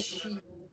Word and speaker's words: sheep: Esse é sheep.